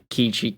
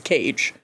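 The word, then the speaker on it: Keiji: the enemy and K kiji kaii kiji kiji is di k k it's like cuz they mispronounce the Americans mispronounce it as cage hey cage the other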